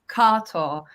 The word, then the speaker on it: Kato: So, with my name, Kato is my evolved American name. The actual pronunciation is Kato.